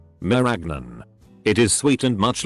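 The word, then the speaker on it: marañón: The cashew is a handle to a fruit called a merasoon, pronounced like lasagna. Meragnon.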